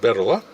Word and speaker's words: Bettola: When I look at it, would pronounce it Bettola, and the girl told me almost everyone pronounces it Bettola, but the owner calls it Bettola, so we're going with Bettola.